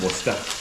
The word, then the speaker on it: Worcester: It's pronounced Worcester.